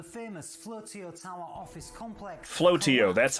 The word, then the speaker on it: Flotio: Flotio, that's how you pronounce it.